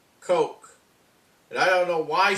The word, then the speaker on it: Koch: They have kept calling her Christina Cook. Her name is spelled K-O-C-H. Now, let me tell you, that name is pronounced Coke. Coke. Not Cook. Coke.